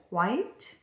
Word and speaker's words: quite: And then lastly this one's really commonly misspelled the difference between quite and quiet. So with quite it's a one syllable word.